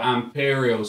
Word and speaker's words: AMP3RIAL: That's Imperial as spelt with an A as an amp, and then instead of the E, it's a three. So AMP3RIAL, Imperial.